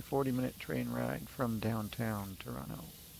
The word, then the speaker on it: Toronto: And the way you know I'm from the Toronto area is I don't pronounce that other T.